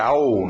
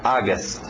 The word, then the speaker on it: August: som de a agas lembra não vai pela escrita você vai dizer au Não não é au é a u faz um som som de a August August engole o p